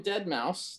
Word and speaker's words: deadmau5: brought to uh daniella robbins here she's recommending dead mouse that's how that's pronounced if i'm informed enough uh this is